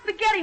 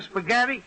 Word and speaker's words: spaghetti: an H in a spaghetti sure only the H is silent look when you eat